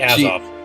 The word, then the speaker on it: Azov: It's like Azov.